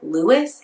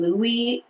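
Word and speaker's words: Louis: character's name Louie, both Lewis and Louie in an alternating way. And for my money, I do think either pronunciation is correct with Louie being more French and also more like New Orleansian, so perhaps being more correct.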